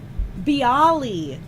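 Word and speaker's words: bialy: Mona says, "Biali. It's pronounced biali."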